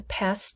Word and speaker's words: passed: And when we change it to past tense, how many syllables? Listen to me. Past. Past. 1 syllable. Past. Past. Not passed. Past. So here, the ed sounds like t.